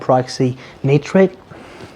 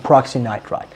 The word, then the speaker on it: peroxynitrite: I pronounce nitric oxide and peroxynitrite as nitric oxide and peroxynitrate.